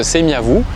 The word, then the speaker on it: Tsimiavo: Parmi les esclaves qui travaillent sur le chantier, une jeune fille de 15 ans qui s'appelle Tsimiavo, qui se prononce Semiavou, et veut dire en malgache celle qui n'est pas orgueilleuse.